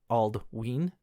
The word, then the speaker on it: Aldwyn: We have ALDWYN, Aldween, because the Y sounds like the two E's.